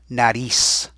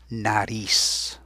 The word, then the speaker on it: nariz: The nose in Spanish is la nariz. Now, careful at that last sound. That is not the letter S. Spanish has a few letters that make the S sound.